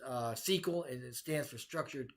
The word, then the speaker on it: SQL: be so to speak via sql which is pronounced sql and it stands for structured query language you